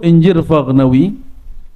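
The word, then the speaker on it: Injir Faghnawi: Jangan dibaca anjir ya. Bacanya apa? Ini Buya Aswi itu canda waktu kita ziarah ini salah-salah baca gawat nih buya katanya. Apaan nih? gawat ini kalau orang Betawi baca jadi anjir Paknawi kan lucu. Tapi orang Arab biasanya bacanya anjir fagnawi. Kalau orang Uzbek bacanya Injir Fagnawi.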